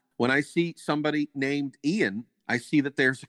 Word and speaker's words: Ian: that I learned that the English name spelled i-a-n the English name spelled i-a-n and pronounced to us Ian was in fact A